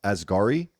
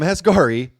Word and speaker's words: Asghari: Spears' now ex-husband, Sam, I think it's pronounced Asghari, right?